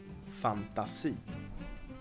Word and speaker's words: fantasi: It's a loan word, but it's just in the Swedish pronunciation makes it sound very, very nice. fantasi.